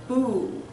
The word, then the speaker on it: Bhu: So for the Earth Mudra, it's called the Bhu. It's spelled B-H-U.